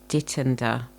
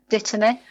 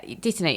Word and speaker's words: Dittany: a herb, and I don't know how to pronounce it. I've been calling it Dittender, but I don't know if that's correct. Dittany. Yeah, Dittany.